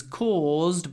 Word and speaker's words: cause: sentence the accident was caused by carelessness pronunciation quickly I want to talk about cause and because so cause has a long or sound with a z at the end cause cause try to